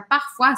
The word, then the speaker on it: parfois: Parfois ça brille comme un diadème, algumas vezes. A palavra parfois significa algumas vezes. Parfois, olha só, a gente viu, oi tem sempre som de uá em francês, tá?